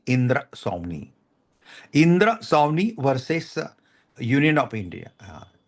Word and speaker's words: इंदिरा स्वामी: इंदिरा स्वामी, इंदिरा स्वामी versus union of India. Pronunciation ठीक से कीजिए, इंदिरा नहीं है, इंदिरा है, इंदिरा स्वामी है, ये आदमी है.